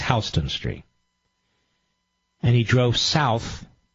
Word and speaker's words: Houston: Pronounced Houston, spelled Houston, but it's Houston Street.